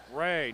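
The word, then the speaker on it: Wray: former FBI director, Christopher Ray. Tyler, I'm glad you said that because I was thinking it. No, it is not. Spelled the exact same way, too. With a silent W.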